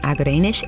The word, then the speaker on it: Agerenesh: Executive Producers from Starglow Media are Jed Baker and Agerenesh A. Palmer (pronouncer: Ah-guh-ray-nush).